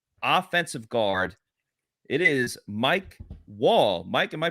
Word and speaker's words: Wall: It's not Wale. I'm sure you get that a lot. Wally.